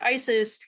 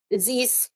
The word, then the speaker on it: Isis: Isis is how we pronounce it in Arabic, but other people pronounce it Isis. Her Egyptian name is Aset.